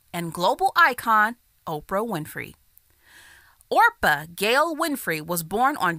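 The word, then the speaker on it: Orpah: Orpa Gail Winfrey was born on January 29th, 1954.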